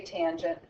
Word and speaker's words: tangent: say Coast all right the previous for tangent is ta n but we say tangent the abbreviation for cosecant